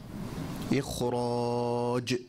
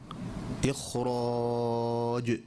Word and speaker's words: إخراج: رجز، رجز، إخراج، إخراج، ليجزي، ليجزي، الأجداث، الأجداث.